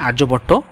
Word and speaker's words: আর্যভট্ট: এর মধ্যে একজনের নাম না বললে নয় আর্যভট্ট হ্যা বাংলা ইংলিশে লিখলে তুমি আরিয়া ভট্ট টাইপের উচ্চারণ হবে আরক হিন্দিতে বললে যাক হিন্দিতে বলে আরিয়া ভট্ট এমনে বললে আর্যভট্ট তো তি আর্যভট্ট তিনি